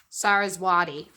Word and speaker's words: Saraswati: Saraswati. And I only recently learned how to pronounce her name properly because Yasmin Boland talks about her.